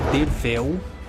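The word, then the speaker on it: Derfel: Derfil, que na verdade se pronuncia Dervel, com V, né, está aqui escrito. Porém, eu acho que Derfil faz mais jus ao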